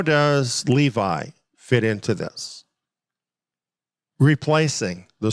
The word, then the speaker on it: Levi: Dan is removed and Levi is the one that's taking his place or levie if you prefer that pronunciation but it's interesting here